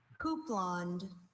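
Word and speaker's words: houppelande: Your word is houblonde. Could I have all the information, please? Houblonde is the only pronunciation at this entry.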